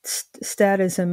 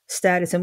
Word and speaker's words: statism: For the people who don't exactly understand or know what that is, what is statism? What do you define it as? Yeah, pronounced either way, statism, statism.